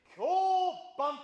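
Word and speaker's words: 響板: この板のことを響く板と書いて、響板と言います。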